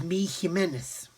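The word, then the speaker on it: Jiménez: And apparently Mig Jimenez, who's the guy behind Mig, his correct pronunciation of his name is Mi Jimenez. Okay, so Mi Jimenez is his name.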